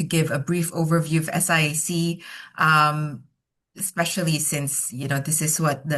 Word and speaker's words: SIAC: the name um so it's SIAC but you can call it SEAK SIAK I I mean there's a number of ways to call um the institution um